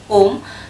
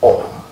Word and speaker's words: Om: The syllable Om, the syllable Om is a single phoneme that in fact contains of 3 letters, 3 sounds, 3 sub-sounds. Okay. These sub-sounds are A, then O, and the last sound is M.